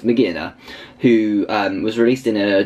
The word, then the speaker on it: Magearna: It's Magearna, I think it's pronounced, or Magearia? No, it's Magearna, who was released in a Japanese comic a couple months ago now, I think, actually.